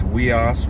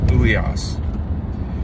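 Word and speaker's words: υἱός: It's either pronounced weos, which is how I pronounce it, or I heard a guy in a video the other day pronouncing it uios.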